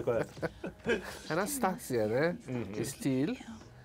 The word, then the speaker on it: Anastasia: Qual a pronúncia correta? Anastasia, né?